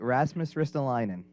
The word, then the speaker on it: Rasmus Ristolainen: i say his name you got it right rasmus ristolainen all right so who is he and why